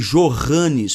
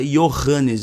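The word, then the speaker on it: Johannes: Eles vem do Alemão no alemão o J corresponde ao Y tanto que no nome jorranes por exemplo você não pronuncia jorrane o anuncia iohannes em alemão ou algo similar então em alemão nas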